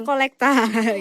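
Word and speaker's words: collecta: juga dengan yang namanya collecte nah dalam bahasa Latin sebenarnya cara pengucapannya juga enggak jauh-jauh Kak kalau kita bilang collectte ya Mereka bilangnya kolekta gitu Heeh Iya jadi itu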